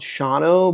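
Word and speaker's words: Shawano: what they call it I think it's actually called Shao but the way it's spelled is shano Wisconsin um it's like like a the name is like native or something like that so it's like kind of hard but um you know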